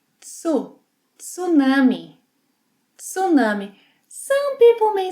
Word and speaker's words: tsunami: In Portuguese, we pronounce the T. Tsu, tsunami, tsunami.